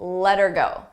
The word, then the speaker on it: let her go: pronunciation let's talk about letter go letter go here notice how her sounds like er you don't hear the H ER but I also attach it to the word before so I link those